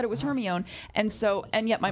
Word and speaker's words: Hermione: Goblet of Fire uh Hermione explains to Victor Crum how to pronounce her name because I think too many people didn't know how to say Hermione I was fully ostracized in school because I was the only one saying it's Hermione and everyone went no